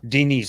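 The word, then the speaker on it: Денис: name was d-e-n-i-s dennis how did you say it in russian huh dean is like a girl's name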